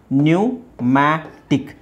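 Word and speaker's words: pneumatic: right ನಿಮೋನಿಯಾ ಹಾಗೆ ಇದು ಪಿ ನ್ಯೂ ಮ್ಯಾಟಿಕ್ ನ್ಯೂಮ್ಯಾಟಿಕ್ ನ್ಯೂಮ್ಯಾಟಿಕ್ ನ್ಯೂಮ್ಯಾಟಿಕ್ ಇಲ್ಲಿ ಸ್ವಲ್ಪ ನೀವು ಉಚ್ಚಾರಣೆ ನೋಡಬೇಕು ಪಿ ಇದೆ ಪಿ ಸೈಲೆಂಟ್ ಮಾಡಬೇಕು ಇದು ಇಲ್ಲಿ ಒಂದು ಲೆಕ್ಕದಲ್ಲಿ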